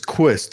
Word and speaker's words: Quist: are you Michelle and your last name is qust am I correct is that how you pronounce it yes okay we have Michelle Quist